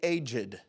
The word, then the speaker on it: aged: some, shall we say, aged debts. Isn't that funny how they pronounce it as two syllables? It's not aged debts, it's aged.